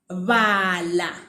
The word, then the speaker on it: bala: So to round it off, let me give you a verb that uses the va sound. Okay. So the verb would be bala, meaning read.